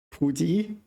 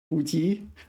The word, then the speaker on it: 普及: No, my pronunciation there was terrible, wasn't it? 普及. 普及. I have a lot of trouble with third tone, second tone, this combination.